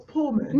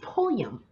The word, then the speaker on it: Pulliam: Oh, I thought it was Pullman. No, it's Pulliam.